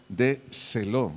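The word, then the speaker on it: θέλω: pregunta qué quieres del vocablo griego de celo de dedo s Elo acento en la e qué quieres del vocablo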